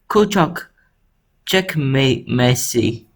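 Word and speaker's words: Küçükçekmece: to kuchak jakame messi this is how you say it not my g oh my key or messy you say it is make g because the c in turkish is basically j it's like like the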